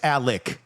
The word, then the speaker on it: Alex: But it's Alec. Even though it's spelled Alex.